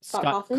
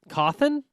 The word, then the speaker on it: Cawthon: Scott Kaufman? Kaufman. Hofflin? Kaufman. Cawthon?